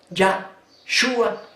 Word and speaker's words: Yahshua: mi nombre qué nombre ya yua en lugar de yesua Gracias padre celestial porque